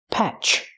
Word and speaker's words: patch: Use the short A sound like black cat, patch.